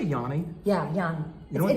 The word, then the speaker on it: Iannis: this what his name is i-a-n-n-i-s which is pronounced Yanni what he's from Northwest Jersey he's from Newton